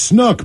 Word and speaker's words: Snook: I want to wish my pops Snook, pronounced Snoop with a K, a happy birthday.